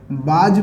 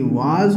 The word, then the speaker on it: was: सबसे पहले तो कुछ बच्चे इसको बाज पढ़ते हैं, चूँकि गलत है, और इसको कुछ बच्चे वेयर पढ़ते हैं, वो भी गलत है। इसका प्रोनाउंसिएशन बाज और वेयर नहीं होता है, बल्कि वाज होता है और इसका मतलब वर होता है।